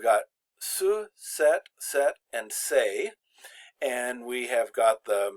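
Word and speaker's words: ces: is going to be say so the S is silent but the Amy except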